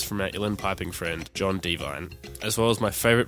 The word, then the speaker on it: Devine: pointed it out that it's john devine not John Devon so big apologies to